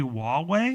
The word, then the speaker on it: Huawei: I think it's officially Huawei.